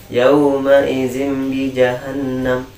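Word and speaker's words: يومئذ بجهنم: Yang salah gimana bacanya? Yang pertama tidak dijadikan jadi mim ya. Dijelaskan tanwinnya sama ba-nya. Yauma idzin bi jahannam. Nah, sekali lagi yang salah. Yauma idzin bi jahannam. Nah, itu yang salah.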